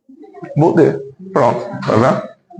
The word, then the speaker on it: Baudet: Dona Rose, por favor, a senhora pode pronunciar o... Baudet.